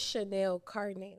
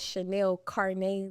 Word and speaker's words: Chanel Carnae: Yeah, I'm from Chicago, Illinois, Inglewood to be exact, and my name is Chanel Carnae, like car and DNA.